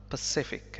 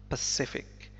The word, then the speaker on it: Pacific: عفواً Pacific, هذه الكلمة تنطق Pacific, Pacific وتعني المحيط الهادي.